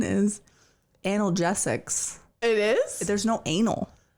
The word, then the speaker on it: analgesics: pr the the prect the correct the correct pronunciation is analgesics it is there's no anal there is turns